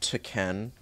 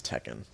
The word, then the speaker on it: Tekken: some taken and yeah it's pronounced taken no just no one says that everybody says Tekken um so a lot